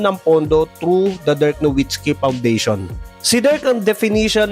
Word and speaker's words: Nowitzki: At buti na lang talaga kasi kung hindi wala tayong Dirk Nwitsky legacy ngayon. Ang tamang bigkas ng pangalan ni Dirk ay Dirk Novitski. Kasi sa German, ang W ay nagtutunog V.